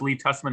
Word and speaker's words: Tusman: My name is pronounced Lee Tusman, although I do accept Tusman as well, and it's my moniker in various websites.